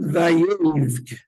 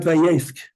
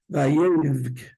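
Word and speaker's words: וַיֵּבְךְּ: Vayivk. not vayefk. You have to say a vay sound. And he cried, yeah, vayevk, not vayefk.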